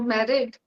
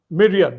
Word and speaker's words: myriad: this I don't know Marriott I don't know. Yeah. Yeah. It's actually myriad myriad views.